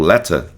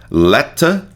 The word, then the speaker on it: letter: pronúncia, para sinalizar que é a pronúncia britânica. Letter e a pronúncia americana, letter, né? A pronúncia americana vai ter um Rzinho aqui, tá?